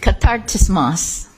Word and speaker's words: Katartismos: It's Greek, it's not Chinese, so Katartismos.